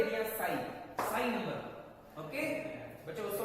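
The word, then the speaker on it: psi: Sign बच्चों इसको TSI इससे लिखा जाता है, इसमें T साइलेंट होता है, इसको साई बोलते हैं।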